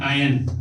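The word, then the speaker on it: iron: making आयन ठीक है आयन बनाने आयरन नहीं आयन आर साइलेंट है तो आयन बनाने के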